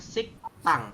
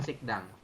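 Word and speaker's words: 식당: kita Tuliskan seperti ini dibacanya adalah sik tang bukan sikdang ya dibacanya adalah sik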